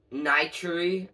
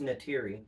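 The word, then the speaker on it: Neytiri: So, uh Niteri, I think that's how you pronounce it. That's Natiri. Natiri. Now that I see it, it's Natiri.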